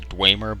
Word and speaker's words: Dwemer: I used to call I think the technical pronunciation is Dwemer but that was like